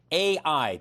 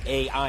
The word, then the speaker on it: AEye: is the ceo of ai and for people at home let's explain the company's name is spelled a and then e-y-e not a as an artificial intelligence um blair thanks for